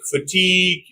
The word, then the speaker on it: fatigue: tangerine and Etc okay and also when we have I Plus gu U at the end or I plus Q U at the end in these two endings also I is pronounce e examples for i g